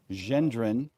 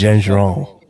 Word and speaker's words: Gendron: John Gendron is Gendron. Because you all have been pronouncing that wrong, and we've been hurting his feelings, and he let us know.